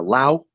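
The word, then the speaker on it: Laos: to Thailand from uh Lao and uh and for all y'all who don't know you don't pronounce that s on the end you feel me ah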